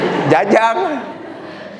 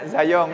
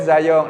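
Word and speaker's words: Zajonc: juga mempelajari psikologi mendalam Jangan sampai salah nyebut nama siapa siapa jajong Jajang tokoh siapa Jajang ya zayong ya Robert Robert zong nah Robert zayong bilang kayak gini Kamu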